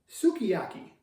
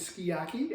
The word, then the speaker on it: sukiyaki: And again in the United States it's called sukiyaki. Uh the Japanese pronunciation is skiyaki and that's what we always refer to it in our family.